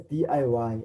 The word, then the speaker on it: DIY: and you realize that each and every one of those letters we will be pronouncing it separately by saying d.i.y so